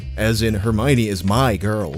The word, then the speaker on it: Hermione: First of all, her name is pronounced Hermione, not Hermione. You can remember where the accent goes because it's on the my, as in Hermione is my girl, not yours, which means don't even think about it.